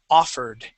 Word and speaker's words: offered: First off, we have the word offered. Okay, so the accent goes at the very beginning, and that O is an ah sound.